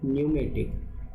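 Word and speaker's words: pneumatic: इसका लेखक का इच्छा है पूछने का, एन और लॉजिक कंट्रोल इन न्यूमेटिक, पी साइलेंट है, न्यूमेटिक system is possible with the help of sequence valve, shuttle valve, dual pressure valve और डिले वॉल्व।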